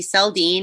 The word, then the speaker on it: Seldeen: so as you said my name is selden it's a very commonly mispronounced and misspelled last name it's uh uh